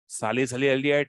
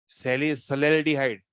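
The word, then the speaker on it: salicylaldehyde: नाम को प्रोनाउंस करो साली साली एल्डिहाइड नहीं है सेली सल हाइड सली सले हाइड बहुत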